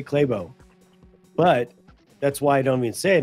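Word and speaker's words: Clabough: right near the end I would understand it if I pronounce it because I say claybo but that's why I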